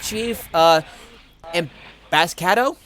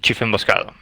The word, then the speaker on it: Chiefemboscado: I am Noah, this is Shadowhawk, and with us we have Chief Emboscado. Is that how? Chiefemboscado.